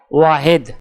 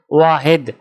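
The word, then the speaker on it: واحد: আরবি ক্রমিক সংখ্যা 1 দেখতে এরকম, উচ্চারণ হবে ওয়াহেদ। তাহলে 1 ক্রমিক সংখ্যাটির আরবি উচ্চারণ হবে ওয়াহেদ।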